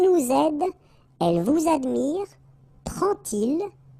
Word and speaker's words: prend-il: to show you that you won't pronounce it like D to make the liaison, but you will pronounce it like T. And so you will get prend-il, prend-il, okay?